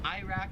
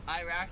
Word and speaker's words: Iraq: The next two are countries, so Iraq, we pronounce it Iraq. Here they pronounce it Iraq. Like we say I, they say Iraq, Iraq.